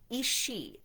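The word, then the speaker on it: aos sí: people that knew Irish lore were uh the isi it's spelled a os si and shei which is this is spelled s i d h e.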